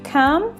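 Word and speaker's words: calm: з однієї сторони картки Come з іншої тихий спокійний і вимолив Голос тричі Come Come come звук л тут не вимовляється бачите навіть якщо прочитати кам то кал у нас виходить в мене вийшла така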